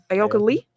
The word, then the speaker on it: Ayoka Lee: Kansas State's, how do you pronounce her name? Ayoka Lee.